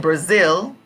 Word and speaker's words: Brazil: Brazil and I said in Brazil Zil part is the strong syllable so you can see that here Brazil Brazil Zil is the strong point of the syllable for them right now okay very good